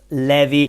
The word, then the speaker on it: Levi: author and it's Primo Lev it's not Levi not like the jeans in it is pronounced Levy and it's Primo Levy